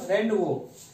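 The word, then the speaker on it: rendezvous: रेंडवो। वो इस लिखा है लेकिन वो हम प्रोनाउंसिएशन वो करेंगे।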